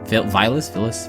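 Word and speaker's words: Villads: Vilas? Villains. The D is silent, that's the important part.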